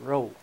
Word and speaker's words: Rowe: it was my name I said that's pronounce that roow so I had quite